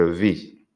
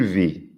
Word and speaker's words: vis: Si os habéis fijado, no he pronunciado las S al singular ni la T.